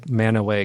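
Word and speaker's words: Mantua: village in Portage County ma n tu a there you go no I could say a man away could not listen earlier indeed what that is so odd that you I knew it's some of those pronunciations but I didn't quite know all the man away I'm never even higher confession I only learned how to say man away correctly like a few years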